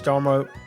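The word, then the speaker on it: D'Amaro: So this feels like a big moment in Disney history with Josh Darmo. I'm not going to say his name. Josh D'Armo. D'Armo. D'Armo. Tomorrow. D'Armo. D'Armo. With Josh Darmo. D'Armo. It's like tomorrow.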